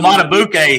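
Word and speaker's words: Madubuike: How do you pronounce it for the Ravens? Hill. Justin. Matabuke.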